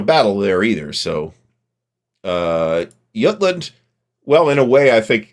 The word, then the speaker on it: Jutland: So, uh, Yutland. Well, in a way, I think I think Arklike might be right about this. Is it Yutland or Jutland? It is Yutland, but everybody says Jutland.